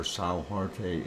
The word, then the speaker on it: São Jorge: George, or São Jorge if you want to pronounce it in Portuguese.